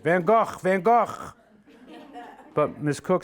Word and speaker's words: van Gogh: was born in Antwerp she says to say it like this Vincent van Gogh and she coughs as she says it van Gogh van Gogh but Miss cook says